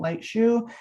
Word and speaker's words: Leitschuh: gonna be your name lightshoe but light shoe is not spelled how you would think it's spelled l e i t s c h u h and then just typical